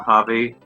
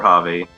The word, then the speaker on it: Javi: Pronouncing that Spanish J is quite hard because it's not just a H, it's not like Javi, but it's like Javi.